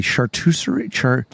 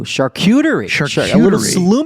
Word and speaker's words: charcuterie: that has meat on it and cheese usually chartreuse oh charcuterie plate what if it's if it's like it's